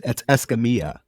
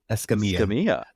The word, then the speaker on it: Escamilla: It's, if you want to be technically correct pronouncing it the real way, it's Escamilla. Escamilla.